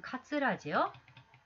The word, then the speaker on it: かずら: すると老婆は見開いていた目を一層大きくしてじっとその下人の顔を見守った。まぶたの赤くなった肉食鳥のような鋭い目で見たのである。それからシワでほとんど花と一つになった唇を何か物でも噛んでいるように動かした。細い喉で尖った喉仏の動いているのが見える。その時その喉からカラスの鳴くような声があえぎあえぎ下人の耳へ伝わってきた。この髪を抜いてな、この髪を抜いてな、かずらにしようと思うたのざ。지금 가즈라 이게 현대로 하면은 물론 이거는 카츠라지요. 카츠라입니다만 예, 지금 이 시대 발음으로는 지금 타금이 붙어 있죠.